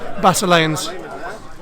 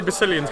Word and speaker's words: Basileans: Hello, it's Basileans. Ben, you can say it now. How do you say this? I would normally say Basilians because I'm English, but everybody else seems to be saying Basileans.